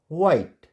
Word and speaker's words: white: H is silent if the word begins विथ WH। Simple है कि अगर word किससे स्टार्ट होगा, WH से स्टार्ट होगा, तो वहाँ पर H जो है साइलेंट हो जाएगा। जैसे WHAT, वट, इसको वहट नहीं पढ़ेंगे, वट। WHY, वाई। WHITE, वाइट एंड WHERE, वेयर।